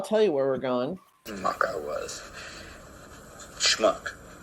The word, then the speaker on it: schmuck: Schmuck I was. Schmuck. It's not smuck, it's schmuck. Smuck. Schmuck. Smuck. Say shh. Shh. Now say muck. Muck. Now say shh and muck together real fast.